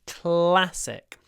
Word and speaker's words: classic: film is a classic we have this at sound at the beginning so you need to pronounce the CL with your mouth open and smiling classic it's a cl cl C practice saying CL in this position with a smile cl cl classic and hold